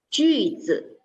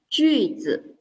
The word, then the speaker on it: 句子: 句子. It's a U pronoun. Okay, so let's try again. 句子. Very good. Then 句子 in Mandarin means sentence.